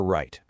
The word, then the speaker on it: write: almost everything you'll ever write. And lastly, keep a close eye out for those tricky silent letters. Words like night with a silent K or write with a silent W.